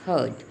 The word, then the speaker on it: heard: इसको हम हियर्ड नहीं बोलेंगे, many student pronounce this wrongly. This is the correct pronunciation is हर्ड.